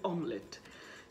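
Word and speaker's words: omelette: আমরা অনেকেই ভুল করে থাকি, যখন আমরা রেস্টুরেন্টে খেতে যাচ্ছি তখন আমরা দেখেন কি বলি, মামলেট, কিন্তু মামলেট বলে কিন্তু শব্দ নাই, ওটাকে বলতে হবে অমলেট.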